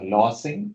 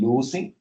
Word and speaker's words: losing: is coming to pronunciations I heard something called as lossing it is actually losing uh and um I